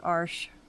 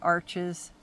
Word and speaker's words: Arches: Again, this is arsh. Some people call it arches. Honestly, I don't know the right pronunciation. I call it arsh now just because of one of the watercolor people that I follow calls it that and she seems to